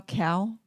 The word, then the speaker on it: Cau: my name's cow so my first name rhymes with my surname and my surname sounds like a farm animal so thank you Mum